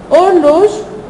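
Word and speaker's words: horloge: اورلوج اورلوج ما بنطقش هنا حرف القش، خلي بالك يعني ما بقولش هور، لا انا ببدا من او.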